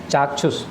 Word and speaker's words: चाक्षुष: चाक्षुष की स्पेलिंग होती है बड़ा चा, मैं लिख देता हूँ, आप देख लें। चा, फिर ये छा छतरी वाला, और फिर ये मूर्धन्य सा, चाक्षुष।